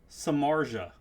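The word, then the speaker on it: Samardzija: Samard Zia. Samard Zia. Samard Zia. Samarja? What? Samarja. That's like 4 letters missing out of that pronunciation.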